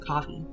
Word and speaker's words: Ko-fi: Or Ko-fi? I pronounce it coffee.